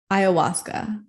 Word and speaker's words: Ayahuasca: It's how do you pronounce it? Ayahuasca.